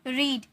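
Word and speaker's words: read: Exercise, walked, watched, eaten, रीड, इसे रीड नहीं रेड में प्रोनाउंस करेंगे, ओके, ये V3 है इसीलिए। फर्स्ट फॉर्म में रहता है तो रीड, second form रेड, third form भी रेड।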